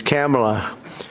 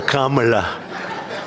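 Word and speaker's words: Kamla: Cam as opposed to Com.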